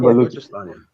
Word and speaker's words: Balochistan: I'm pronouncing Balochistan. Yeah, it's called Balochistan.